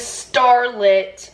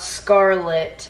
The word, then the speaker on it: Starlet: Her name is Starlet, not Scarlett.